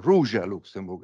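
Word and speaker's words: Róża Luksemburg: Rosa Luxembourg to write or Russia luxembuk as it should be pronounced actually to write the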